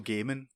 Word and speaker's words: Gaiman: Neil Gaiman. How would you say it, Dom? Neil Diamond, Apparently, the singer. Apparently, it's Neil Gaiman. I always said the whole Ninja Gaiden thing, innit? I thought it was Gaiman, but then like I had an argument with